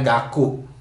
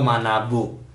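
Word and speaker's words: 学: Kanji belajar itu bacanya gaku atau manabu.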